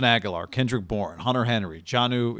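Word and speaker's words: Jonnu: kendrick bourne hunter henry janu is it johnny is how you say it johnny smith johnny smith love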